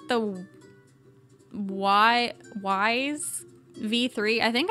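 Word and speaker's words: Wyze: Um, it's the Y Wise V3. I think I always say it wrong. I like saying ways. I don't know why. Um, but it's WY Z V3.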